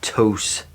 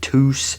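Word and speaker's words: Tous: pronounce it too, but I found out it's a Spanish company and it is pronounced toast.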